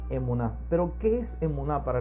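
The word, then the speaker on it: אמונה: En hebreo la palabra fe es emuná, se pronuncia emuná.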